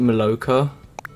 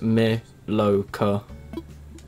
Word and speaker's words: Maloka: It's called, you pronounce it Maloka. So just me-lo-ka.